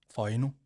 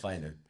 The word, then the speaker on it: Fainu: Am I pronouncing it wrong, or is everyone else pronouncing it wrong? I'm saying Fainu. I'm hearing Fainu. How are we saying it? Can you pronounce it? Fainu. So we're all wrong. Faiuno. Fainu. Fainu. So it's not Fainu.